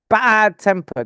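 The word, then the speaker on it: bad-tempered: yes second syllable bad bad temper that's the first syllable bad bad tempered um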